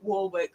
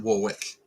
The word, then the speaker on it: Warwick: And we only found I'm blaming Dan Jones for that from Great British Castles documentary, because he calls it Warwick, not Warwick.